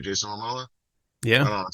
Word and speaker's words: Momoa: right yeah he's the coolest yeah like Jason lamoas is Right Jason Momoa yeah I don't say his name no you